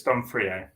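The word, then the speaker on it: D'Onofrio: Donofrio, isn't it? It's Donofrio.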